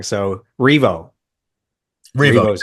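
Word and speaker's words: R.E.V.O.: So, is it pronounced Revo? Like Revolution? Revo. Revo. That's I'm like, "Okay, I have a 50% chance here. I'm probably gonna get it wrong." So, Revo Revo is how you pronounce it.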